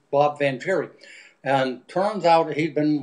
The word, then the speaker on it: Vangieri: pronounced Bob Vangieri, and turns out he'd been watching the show